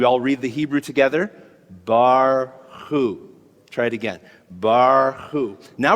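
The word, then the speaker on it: ברכו: But in the word barchu, it comes at the end of the syllable, so it's bar, it's just silent. Okay, there it is. Can we all read the Hebrew together? Barchu.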